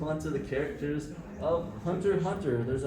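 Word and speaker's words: Hunter × Hunter: logo and the title why it has an x if it's pronounced hunter hunter oh okay so the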